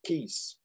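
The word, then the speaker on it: quês: k comes in the plural form ques pronounced keys and as and as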